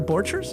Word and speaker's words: Borchers: Borchers?